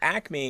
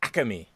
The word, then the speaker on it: Acme: about acme is that when you're from philly a lot of people don't call it acme for whatever reason they add like extra syllables to it so it's the acame i'm gonna go over to the acame like what but it's